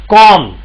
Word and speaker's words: calm: हाँ, इसमें एम silent, B silent है, सॉरी। कॉम।